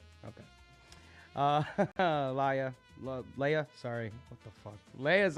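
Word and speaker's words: Laja: It was the L-A-J-A. I was like, the J is silent, apparently. Okay. Leia, sorry.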